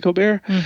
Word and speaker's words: Colbert: coar people for some reason always choose to pronounce mine Cobert though I pronounce it coar so people aren't listening DNE like St like